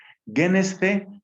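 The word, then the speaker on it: γένησθε: Genesce, kai genesce, pronuncio mejor ahí el acento.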